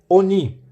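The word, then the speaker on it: עֳנִי: portanto ne em imagine a pronúncia da palavra completa é oni oni significa aflição aflição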